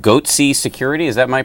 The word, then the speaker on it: Goatse: hats who um who hacked AT&T they're called goaty security is that my pronouncing that correctly yeah that's right and and